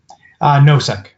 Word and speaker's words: Nosek: how do you say your last name? Nosek. That would have been my guess. Nosek.